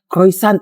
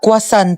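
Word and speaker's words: croissant: Croyant daw. Croisant. Ah kwasant po.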